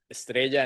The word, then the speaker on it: Estrea: Um again my name is Estrea and it's Estrea and Estrada they do sound quite similar but since I correct my kids they would like me to say they say it correctly as well.